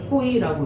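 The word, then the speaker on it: הוֹי: 그래서 이 단어를 호의라고 읽는데, 모든 문장, 모든 장의 첫 번째 단어가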